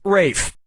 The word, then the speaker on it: Ralph: Yep, Rafe Fiennes' first name is spelled like Ralph, but pronounced Rafe.